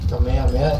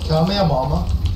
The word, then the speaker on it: Kamehameha: He knows about the Kamehameha, but he hasn't learned it. Oh shit. Oh, dude, God. You gotta learn this, bro. Have y'all heard that Fortnite player that mispronounced Kamehameha into the Kamehamama?